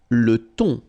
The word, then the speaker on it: thon: Le thon. Remember, H here is not pronounced. Le thon.